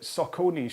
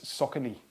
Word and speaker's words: Saucony: I've always said that Saucony shoes were Saucony. Okay, so running shoes, Saucony. But someone, I made a video to talk about it, and someone replies, no, it's Saucony is how it's pronounced, not Saucony, but Saucony.